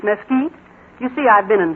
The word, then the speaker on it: Mesquite: And it isn't Mesquite Springs, it's Mesquite.